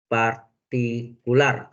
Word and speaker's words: partikular: sama di sini solusi partikular tnya partikular bacanya partikul ya Nah baru jawab sini